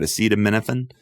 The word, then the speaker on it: acetaminophen: Acetaminophen?